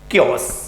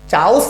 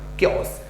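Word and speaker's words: chaos: सर समझना, यहां पर जो वर्ड दिया है क्योस, सर प्रोनाउंसिएशन बताइए क्या है इसका? क्योस। चाउस नहीं, चाउस ना बाबा ना, क्योस।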